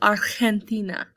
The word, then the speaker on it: Argentina: The G makes that H sound, so Argentina is how you pronounce it in Espanol.